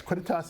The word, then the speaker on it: quidditas: Quidditas. Yes, Quidditas is That means Latin.